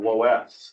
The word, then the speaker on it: loess: And this this type of soil that our park is made of is called is called loess. It's spelled l o e s s.